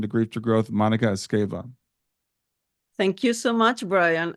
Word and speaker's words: Esgueva: like to welcome to grief to growth Monica escava thank you so much Brian and I can believe you you are able to pronounce my surname well oh well thank you